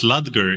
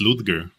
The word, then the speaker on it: Ludger: I bother just like you guys pronounced ludger even though it's ludgar oh is it ludgar